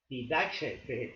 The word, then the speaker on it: Didache: Didache se pronuncia así con la J egipcia, con la J griega, y este libro es la enseñanza de los 12 apóstoles.